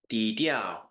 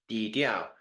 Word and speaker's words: 低调: Hi, this week's word of the week is dīdiào, which means low key, and it is pronounced 低调， dīdiào, 低调， dīdiào, and it means low key or low profile as opposed to flamboyant or high profile.